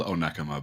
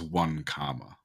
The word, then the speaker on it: Onekama: But there's a town near me called Onekama, but if you tell Google or ask Google, anything, it will read it as 1 comma.